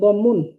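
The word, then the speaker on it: ضمة: দম্মা, মূলত শব্দটা ছিল দম্মুন, মানে পেশ, মানে এটা হচ্ছে দম্মুন ছিল, তো আমরা পড়বো হচ্ছে দম্মা। যখন পড়ার সময় আমরা এই উচ্চারণগুলো করবো, আমাদের সবথেকে দম্মা, সহজ হবে পড়া।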